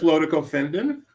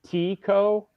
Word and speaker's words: Lodico Fendon: Lodico Fendon is the correct pronunciation. So not Lotico? Correct. Lodico Fendon.